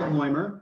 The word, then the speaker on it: Loimer: with this lowest Grüner Veltliner from, is it Loimer, Jesse? Am I pronouncing that right? Yeah, his name is Fred Loimer.